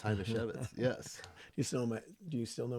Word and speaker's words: Hajnasiewicz: spell your name and I know how to pronounce it it's h to chevit yes do you still know my do you